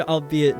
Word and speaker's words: albeit: The archaic word albeit does not rhyme with eight.